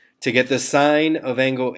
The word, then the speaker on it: sine: Así que hoy estamos aprendiendo dos radios nuevos de trigonometría, sine, que para encontrar sine se escribe S-I-N-E, pero los botones dice S-I-N, pero se pronuncia sine en inglés.